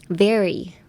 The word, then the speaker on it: very: And woopsies Next: "very." Very Very Both V and R are difficult, so try saying it once.